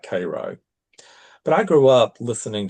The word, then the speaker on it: Cairo: Georgia, a town called Cairo, and it's it's spelled like Cairo, Egypt. You know, you you'll get corrected if you if you say it Cairo and not Cairo.